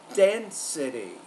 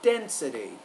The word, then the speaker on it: density: of a stress issue density stress is on that firstable Den density now when we create primary stress we want to make that syllable longer louder clearer and also higher pitched again density density if we examine words